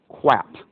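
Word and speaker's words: QAP: radiochemistry quality assistance program that's pronounced quap which sounds like Elmer fud uh using a mild profanity um quap uh it is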